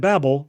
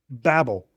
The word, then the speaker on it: Babel: Babel. In Hebrew, it sounds like the word Bal, which means to confuse or to mix.